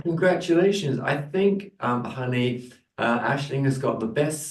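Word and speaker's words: Aisling: Asing so yeah my full name is it's pronounced Ashling Ashling con Irish spelling name yes Ashley hell and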